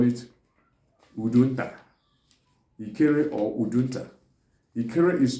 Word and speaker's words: Udunta: Ikere, or some people call it Udunta. Ikere or Udunta. Ikere is spelled as I-K-E-R-E.